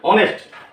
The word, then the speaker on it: honest: But here honest. Oh, since it starts with H, but the pronunciation is O.